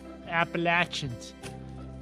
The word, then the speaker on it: Appalachians: I love the Appalachians. Or as they say it down here, Appalachians. You know, because Gotta say it right.